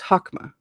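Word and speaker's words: Chokmah: 2 is Hakma.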